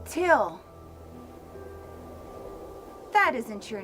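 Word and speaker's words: Thgil: and Fit Yogurt carton my name is till it's spelled t h g i l but it's pronounced till so Neil goes back to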